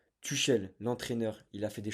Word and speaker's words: Tuchel: Enfin, je dis Touchel, Tom prononce Tuchel, l'entraîneur.